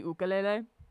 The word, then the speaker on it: ukulele: look I understand it's a Hawaiian word but it's also pronounced technically ukele but I I feel